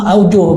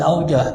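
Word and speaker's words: أوجه: muzakarah para satis ya saya bilang aujuh Bacanya jangan aujah mereka matot ajah pendapat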